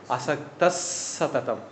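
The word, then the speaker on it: असक्तः सततं: அசக்தஹ அசக்தஹ கூட்டல் சததம் நம்ம உச்சரிக்கும் போது அசக்தஸ் சததம் அப்படி சொல்லணும்.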